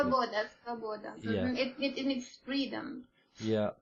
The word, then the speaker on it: Svoboda: leader of the neo-Nazi Slavoba party. I may have pronounced that incorrectly. Svoboda.